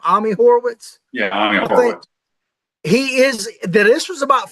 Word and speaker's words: Ami Horowitz: Yeah, Ami Horowitz.